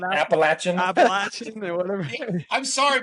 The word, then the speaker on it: Appalachian: it wrong is not appalachin appalachin or whatever I'm sorry but the English language doesn't make those sounds with those letters appalachin Trail get it right it's the appalachin US New Yorkers we